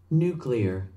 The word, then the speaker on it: nuclear: 혹시 그 사람이 한 유명한 발음이 미국에서 표준 발음이 아니냐라고 생각하시는 분들을 위해 제가 미국 발음을 하나 가져왔습니다. 들어보시죠. Nuclear, nuclear.